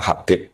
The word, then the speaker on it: Habib: Yang benar itu bacanya Habib.